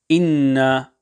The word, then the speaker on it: إنا: Inna, ensure here that the ghunnah is lengthened sufficiently to the duration of one alif.